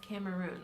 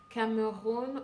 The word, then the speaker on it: Cameroon: Well, first of all, I hate the way they pronounce Cameroon. Like, it's Cameroon or Cameroon. Either way, English or French, it's basically the same. Like, you hear things like, oh, Cameroon.